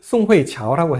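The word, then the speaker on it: 宋慧乔: 근데 대부분이 qiao로 발음을 많이 해요. 그래서 중국 사람하고 소통할 때는 송회qiao라고 해야 돼요.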